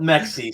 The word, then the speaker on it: Mexi: think about it because remember I told you how to pronounce it and then remember I'm sexy so just remember sexy mexy we'll call it Mexi so there's a pretty